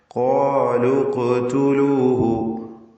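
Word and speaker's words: قَالُوا اقْتُلُوهُ: ഖാലു ഖ്തുലൂഹു, ഖാലു എന്നതിലെ വാവിനെ ഇൽത്തിഖാഉ സാക്കിനൈന്റെ പരിഹാരമായി കളഞ്ഞുകൊണ്ടാണ് ഉച്ചരിക്കേണ്ടത്.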